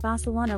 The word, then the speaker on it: Barcelona: In most of Latin America, if you want to visit Barcelona, you pronounce it Barcelona with a soft sound.